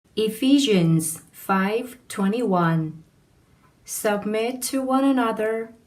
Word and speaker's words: Ephesians: Ephesians 5:21 Submit to one another out of reverence for Christ. 여러분 안녕하세요. 지와이쌤입니다. 이번 시간에 여러분들과 공부해 볼 내용은 Ephesians에 있는 내용입니다. 에베소서이죠. 자, 발음 한번 해보실게요. Ephesians 이렇게 됩니다.